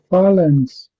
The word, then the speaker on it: phalanx: Then I want to ask about uh, phalanx. Phalanx. Yeah. Phalanx. So, yeah, you said it very well. That's exactly how it's said. So PH is obviously F, so that's it, yeah, phalanx.